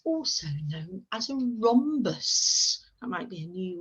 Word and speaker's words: rhombus: here in yellow and we spell that with a silent h children so it's r silent h o m b u s does our rhombus have